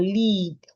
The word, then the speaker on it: leap: I have lip and leap. Lip, LIP, lip. Leap, LEAP, leap.